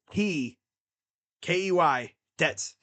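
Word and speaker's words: Keydets: The VMI Cadets, but it's spelled Key Dets.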